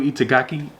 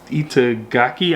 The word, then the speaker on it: Itagaki: Stars uh by puu itagaki itaki I believe is how you pronounce their name um and this just